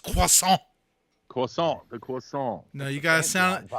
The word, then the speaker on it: croissant: pronounced croissant.